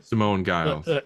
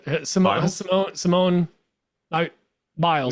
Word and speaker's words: Simone Biles: don't you dare disrespect No, Simone Simone Giles. Simone Biles.